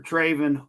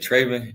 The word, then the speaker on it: Trevin: Trevin. Welcome into the show, man. How you doing? I'm doing good and you said Trevin, it's Trevin.